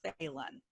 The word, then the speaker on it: Phelan: we can go ahead my last name is pronounced Phelan I'm just a video I'm gonna be already